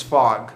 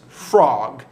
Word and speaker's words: Fogg: a wager," replied Phileas Fogg solemnly. That was from pages 12 to 14 of my edition of the book. Apologies a couple times for, I believe, mispronouncing Phileas Fogg as frog. It's actually fog.